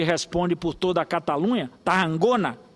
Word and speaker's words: Tarragona: por toda a Catalunha, Tarragona, que é essa pronúncia segundo o catalão.